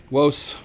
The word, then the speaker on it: vos: I generally just have my students just do westrum. And yes, I know it sounds like maybe have a speech impediment. I did when I was in the third grade, and I could not pronounce my R's, and that's exactly how I would pronounce my R's, like Worcester. Let's go to the park.